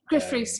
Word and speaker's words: Gruff Rhys: Did I pronounce his name right? I don't think I did. Gruff Rhys, yeah.